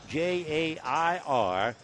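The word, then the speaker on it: Jair: Atlanta jier jurgons at first name j a i r and pronounced J air jurgons he's from the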